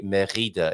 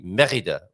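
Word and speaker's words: Mérida: And going back to Spain for a moment, of course, there's only one R in Merida. So it wouldn't be Merida. It would be Merida with the accent on the first E.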